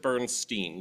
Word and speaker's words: Bernstein: So is it Bernstein or is it Bernstein? So in the research that I did, the original pronunciation that most people seem to agree was actually Bernstein, which, orally speaking, has more overt Jewish connotations.